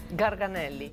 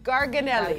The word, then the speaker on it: garganelli: it so how do you say the name garganelli garganelli gonna the black Holly the caper the fresh